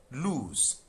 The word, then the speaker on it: lose: Lose. So here the S is but in L O S E the S is Z. lose.